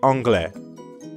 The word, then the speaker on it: anglais: am english you see anglais notice how the ending of angli is very similar to francais both are masculine and although they both end with an s you don't pronounce it so an englishman would